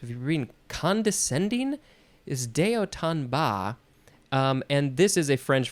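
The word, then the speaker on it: de haut en bas: the next word is Deo tanba I thought it was boss he tried he tried okay this is four words d e second word h-a-u-t which is just pronounced o third word e n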